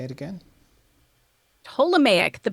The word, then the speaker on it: Ptolemaic: Ptolemaic. The P is Ptolemaic. silent. So the P is silent.